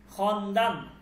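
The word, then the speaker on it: خواندن: Text আছে আমরা সেটা পড়ব এখন ঠিক আছে খন্দান খন্দান মানে পড়া।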